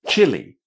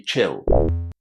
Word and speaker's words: Chile: And it's exactly the same pronunciation as for example the one in Chile, Chili Pepper. So, Chile, very strange, right? Because normally the final e at the end of English words is silent. But not in here. We say chili. Please don't let anybody tell you that it should be chill. No, chili.